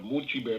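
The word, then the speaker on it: Mulciber: vulcan is much better i guess that's how you pronounce it m-u-l-c-i-b-e-r mochi bear that's another name for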